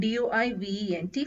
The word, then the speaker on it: doivent: For ILS and ELLES, it is D-O-I-V-E-N-T, pronounced as doivent.